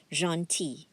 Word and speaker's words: gentil: The L is silent, gentil.